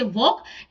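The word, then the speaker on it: walk: दिखाया है कि इसे वॉक हमने ढूंढा तो वॉक हमें यहां दिखाई दिया जिसमें एल क्या होता है साइलेंट होता है ऐसे ही हम और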